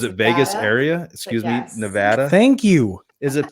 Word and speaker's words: Nevada: Is it Everyone down here says Nevada, and it drives me nuts. Yeah. How do you say pecan pie? Pecan pie. Pecan? Pecan. All right. Nikki, whatever. save us. We're already off topic. Nevada. It's Nevada.